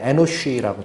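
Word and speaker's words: אנוש: 찾아봤더니 에노스라는 것이 히브리어로는 이제 발음이 비슷해. 에노쉬라고 되어 있어요. 에노쉬.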